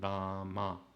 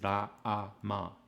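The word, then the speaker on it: राम: So this is not Rama, because there's a line there that represents the utterance of a or a. So it's Rama, Rama. It's Ra-a-ma, Ra-a-ma.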